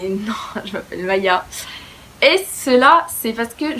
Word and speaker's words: Maja: Mon prénom ça s'écrit avec un j. Donc en gros je pense que si vous apprenez que je m'appelle Maya avec un j, bah vous vous dites directement que je m'appelle Maja. Mais non, je m'appelle Maya.